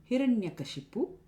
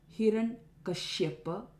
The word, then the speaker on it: Hiranyakashipu: It is not Hiranyakashyapa. The Kashipu is pronounced as Kashyapa. Kashyapa is Hiranyakashipu's father. It is not Hiranyakashyapa, Hiranyakashipu, etc. It's Hiranyakashipu.